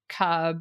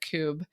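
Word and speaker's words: Kubb: So, like spike ball, wiffle ball, we have a game called Cub, or I don't, you might pronounce it Cube, but it's just like a game where you're knocking down these wooden pegs.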